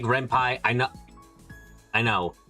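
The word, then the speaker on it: Ren'Py: Rempeni reimpy I like rempi I know I know it's because it's based on python so python you said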